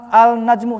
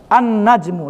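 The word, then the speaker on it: النجم: Tidak diucapkan. An-najmu, langsung aja. An-najmu.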